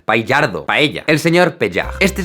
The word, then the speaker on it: Paillard: Le pido a mi primo que lo pronuncie para no arriesgarme. Jean-François Paillard. Paillardo.